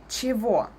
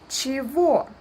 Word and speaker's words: чего: And look, we don't pronounce it like it's written. It's written чего, but we pronounce it чего. Unstressed ye is pronounced like I and g is pronounced like v.